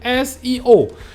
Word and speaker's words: SEO: ya itu muncul istilah Seo itu Darimana asalnya dari siapa enggak ngerti juga padahal ini adalah sebuah singkatan dari kata bahasa Inggris siomia1 disini esio ini cara bacanya bukan Seo orang-orang Kalau Anda ngomong seoseo